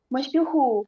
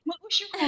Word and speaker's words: meusyuhu: kayak masyuhu, Ah, tulisannya tuh meusyuhu. heeh. Mungkin nanti dia bacanya meusyuhu gitu kan, Kak.